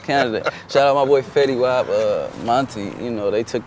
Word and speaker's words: Fetty Wap: What was it like performing for the Canadian audience and performing with Fetty Wap? Oh man. Did I say it right? Fetty Wap. Fetty Wap.